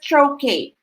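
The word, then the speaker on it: trochee: answer is letter a trocate paul letter a trokay it's not iambe is unstressed followed by stressed okay it should be stressed syllable followed by one unstressed syllable and so the correct answer is troche troche po antamon sagot for question 17.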